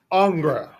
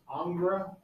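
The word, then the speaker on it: Ingres: picture over here okay our next artist is angra it's spelled i n g Rees it's pronounced angra but I've also heard it pronounced Ang or angra so I just call him anger all right he is another Napoleonic artist and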